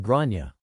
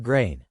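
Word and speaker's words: Gráinne: names can be tricky the kid is called Grana not grain my partner who has studied Ireland's political history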